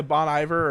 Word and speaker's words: Bon Iver: like this uh the bony how do you pronounce that band ben idol oh you know bon iver or booney there oh yeah yeah oh i